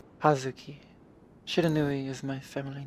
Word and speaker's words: Hazuki: Just because as much as I love you, I would butcher the out of that name. Hazuki Shiranui is my family name. You are closer than that. Hazuki.